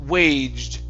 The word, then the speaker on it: waged: This word right here is waged. Just like trudged. Same type of ending.